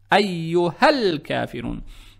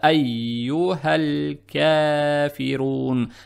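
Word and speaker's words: أيها الكافرون: «Айюхал-кафирун». Теперь, при переходе, мы пропускаем алиф. Не произносите букву алиф.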